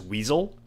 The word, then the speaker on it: WSL: But it's OpenWrt just like WSL on Windows is weasel.